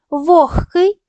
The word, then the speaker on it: вогкий: вимовляють чітко гриб різкий лише г перед глухими вимовляють як х вогкий нігті глухі приголосні перед